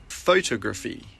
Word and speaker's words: photography: Photography. Photography. It's photography. Photography. The stress is on the second syllable.